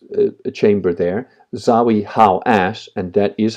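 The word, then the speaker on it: Hawass: because there was a a chamber there zawi how as and that is how you pronounce it how as um went in there um he physically went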